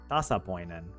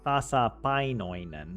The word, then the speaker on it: tasapainoinen: Tasapoinen. Wait, did I say it? Tasapainoinen.